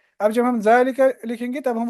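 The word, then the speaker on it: ذلك: है श कहते अनी जालिका हमने देखा कि ये जा है इसमें अलिफ है मगर वो प्रोनाउंस नहीं किया जाता है जालिका और इसी तरह एक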